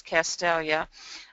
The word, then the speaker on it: Castalia: Bayview is also a village, but I wanted to point out how you pronounce Castalia.